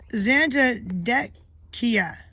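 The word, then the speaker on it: Zantedeschia: of your names the the CH is usually pronounced like a k so it's zanta deck Kia okay presented guest Kia yeah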